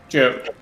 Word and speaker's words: Jode: My name is excuse me, my name is Jode. My name is Jode Kavkin. I'm a bit of a outdoorsy hunter, pseudo druid, learning druid. It's pronounced Jod. Jod. Okay, Jod. Sounds good. Instead of GIF or GIF.